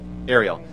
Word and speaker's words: Ariel: I don't want to get her name wrong. Was it Ariel? Ariel.